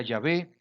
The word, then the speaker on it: Yahvé: quiere celebrar la Pascua para Jehová se pronuncia yahvé que le sea circuncidado